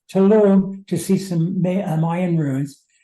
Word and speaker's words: Tulum: was a two-part we went to I always mispronounce it tum Tulum to see some Mayan runes and then we